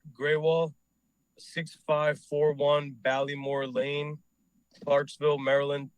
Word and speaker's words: Grewal: All right, so my name is Graywal, 6541 Ballymore Lane, Clarksville, Maryland 21029. My name is spelled.